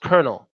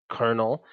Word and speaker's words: colonel: l but it's pronounced colonel right there's no R in colonel but it's pronounced colonel okay schedule is pronounced